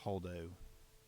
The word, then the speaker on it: Holdo: Oh, well, I didn't even say it right. It's Holdo.